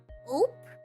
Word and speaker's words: ope: Ope? It's like that's dope, but without the D, so it's ope.